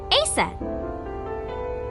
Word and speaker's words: Isis: Horus's mom is named Isis, but in ancient Egyptian, it's pronounced closer to Isa or Aset.